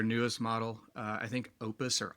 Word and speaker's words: Opus: And I will say their their newest model uh I think opus or oppus is the right way to say it.